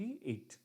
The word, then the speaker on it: eyot: अब इसमें से बी हटा दो बेटा, एक मिनट बनता है एट और EYOT, एट, ठीक है। दोनों का प्रोनाउंसिएशन सेम है, बस उसमें ई साइलेंट है, ठीक।